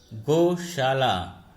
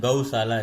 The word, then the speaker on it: गौशाला: तो यहाँ पर उदाहरण है गौशाला, लेकिन इसका उच्चारण क्या सुनने को मिलते हैं गौशाला, जो अशुद्ध है।